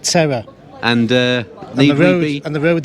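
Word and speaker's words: Teror: a town called Terror as in English it's pronounced Terror and uh and the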